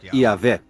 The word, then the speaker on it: Yahvé: Segundo um relato, Abraão conhecia Deus por seu nome pessoal, que costuma se pronunciar Yahvé.